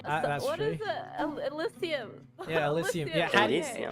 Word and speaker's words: Elysium: I mean, I will eat it because of the nutrition, but Northern Asilium.